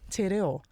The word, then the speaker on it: te reo: She posted something about if you can say titties, Yeah. Titties. you can pronounce your R's. You can roll your R's and reo. Yeah. You can say te reo.